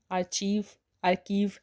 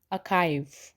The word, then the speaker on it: archive: इसको हम आर्कीव नहीं कहते हैं, इसे हम कहते हैं अकाइव। इट्स अकाइव, नॉट आर्चीव और आर्कीव। इट्स अकाइव। So next word is CONGRATS।